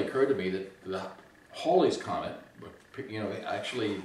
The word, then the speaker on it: Halley: to me that the hawley's comment but you know actually i asked people in cambridge and they said almost certainly holly pronounced his name that way because paul was fall